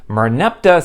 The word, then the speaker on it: Merneptah: The first written appearance of the word is not from the Hebrew Bible, but in an inscription known as the Merneptah Stela in the early 1200s BCE.